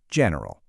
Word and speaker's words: general: In the UK it's often kind of clipped, two syllables, general. But over in the US, we usually stick an extra one in the middle.